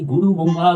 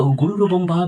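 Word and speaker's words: গুরুর্ ব্রহ্মা: কিন্তু মূল সংস্কৃতে বা মূল স্কন্দপুরাণের শ্লোকে শব্দটি কিন্তু গুরু নয়। শব্দটি হল গুরুর। র এর নিচে একটি হসন্ত বা বিসর্গের সন্ধি রয়েছে। সঠিক উচ্চারণটি হল গুরুর ব্রহ্মা, গুরুর বিষ্ণু, গুরুর দেব মহেশ।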